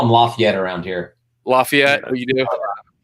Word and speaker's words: Lafayette: lafette it's not it they pronounce it the cajes down there they say lafette like Laffy Taffy they say la yet